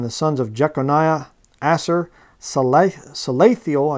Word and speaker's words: Salathiel: And the sons of Jeconiah, Asser, Salathiel, I guess would be how you say it, Salathiel, his son. So it's not Sheel-Teal.